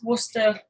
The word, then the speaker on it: Worcester: How do you pronounce this? Worcester.